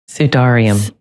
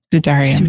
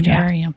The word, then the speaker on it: Sudarium: And so we have um in uh Orietto in Spain what's called the Oh, I'm going to say it wrong. Help me out here. Sudarium. Sedarium. Sudarium. Thank you.